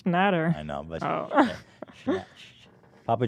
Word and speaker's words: Schnatter: It's Shat. No, it's Schnatter.